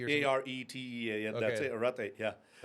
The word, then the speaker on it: Arete: Arete, I think I was mispronounce it the a r e t t e or something. a r e t e a That's it.